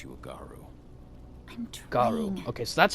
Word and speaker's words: Garou: Garou. Okay, so that's how you Believe pronounce it.